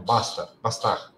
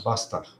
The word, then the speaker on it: Bastard: Não, Bastard. É francês. Tá? E esse nome aqui é bom pronunciar corretamente. É Bastard. Tá?